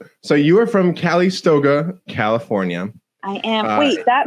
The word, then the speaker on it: Calistoga: Calistoga, but I liked your flair better, actually.